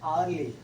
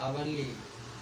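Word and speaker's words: early: ये देखिए आर्ली, इसको प्रोनाउंसिएशन क्या करेंगे? आवरली। आवर तो आवर्ली नहीं है, आर्ली।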